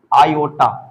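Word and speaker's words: iota: यानी और इसको हम लोग प्रोनाउंसिएशन कैसे करते हैं, आयोटा। क्या प्रोनाउंसिएशन करते हैं, आयोटा प्रोनाउंसिएशन करते हैं।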